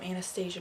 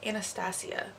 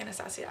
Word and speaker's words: Anastasia: It's the Dip Brow Chocolate from Anastasia Beverly Hills, or sorry, Anastasia. That's how you pronounce it, Anastasia.